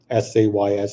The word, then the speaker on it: says: pronounce it one way most people would pronounce that word s a Ys as says yeah but I don't